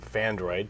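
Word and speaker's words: Phandroid: Okay, so the first story of the day from Fandroid, P-H-A-N-D-R-O-I-D, Fandroid, that's spelled that way.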